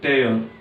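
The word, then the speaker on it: tear: First word is टेयर. Okay, इसकी जो दो प्रोनाउंसिएशन निकलते हैं, एक होता है टीयर, एक होता है टेयर. टीयर और टेयर में डिफरेंस क्या है, ये चीज आपको पता होनी चाहिए.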